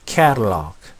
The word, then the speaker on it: catalog: 자, 카탈로그, 카탈로그 이렇게 많이 얘기하는데, 캐, 발음기호, 영어는 발음기호로 발음한다고 그랬죠? 캐. 자, 그리고 강세가 없는 음절의 모음이 좀 약해져서 취약이 됐습니다. 그리고 강모음과 양모음 사이에 있는 T나 D 사운드는 플랩이 되죠. 부드럽게 해서 Catalog가 아니라 Catalog. Catalog.